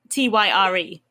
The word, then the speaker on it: Tyre: I think it's pronounced Tyre. Is that TYR? Tyre. Oh, like a tire.